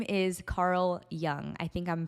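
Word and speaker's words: Jung: he he is called his name is Carl Young I think I'm pronouncing that right it's j u n g Carl Young and he was basically like one of the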